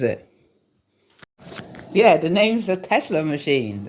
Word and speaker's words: TZLA: But no, it's called the Tesla machine, but it's spelled TZLA.